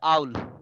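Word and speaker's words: owl: B what does a ওল look like উচ্চারণটা ওল না উচ্চারণটা হবে আউল আউল হ্যাঁ ঠিক আছে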